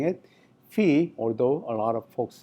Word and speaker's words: phi: colleagues and students you know uh they they pronounce it fi uh and that's understandable but you know the uh the uh original Greek pronunciation uh that's not fi that's fee.